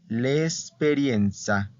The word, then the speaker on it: esperienza: Okay ahora experiencia experiencia Perdón yo lo dije como en español experiencia experiencia termina con